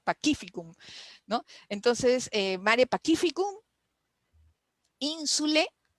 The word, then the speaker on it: Pacificum: Cuando estudiábamos latín, yo juraba que se decía Pacificum, como en italiano, pero aprendimos que la C se pronuncia como Q, ¿no? Pacificum, ¿no?